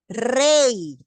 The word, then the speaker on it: rey: Rey. Aquí tengo un diptongo, queda igualito y no se separa nada. Porque el sonido de la Y es el sonido de la vocal.